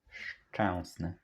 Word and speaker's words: Szczęsny: It is important that it is S, so that you can hear and emphasize strongly this S, that hissing sound at the beginning.